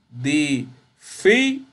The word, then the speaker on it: difícil: No decimos difícil, decimos difícil. Incluso fíjense que está la acentuación. La fi es la sílaba tónica y obviamente eso es grave o llana.